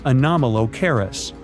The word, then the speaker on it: Anomalocaris: The name is a bit tricky to pronounce, so I'm not going to. Okay, okay, it's Anomalocaris, but it just literally means unusual shrimp.